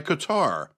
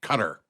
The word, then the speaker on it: Qatar: a deal brokered by Qatar and yes that's how I'm going to say it I always hear the talking heads on the news pronounce it cutter they put the accent on the wrong syllable if you ask me